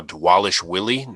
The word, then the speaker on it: Dvalishvili: Merab Dvalishvili, who is apparently now Dvalishvili. Not sure when that change happened, but that's what they were calling him all night. So it's W's now, how it's pronounced.